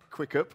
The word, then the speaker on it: Quiqup: the question is so how do we pronounce the name quick quick up okay CK what is quicker